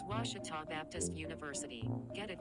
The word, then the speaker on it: Ouachita: university back in texas everybody pronounces it wichita but really it's ouachita washington washington how would you pronounce it it's washita baptist university get it right it's washi tall people it's washita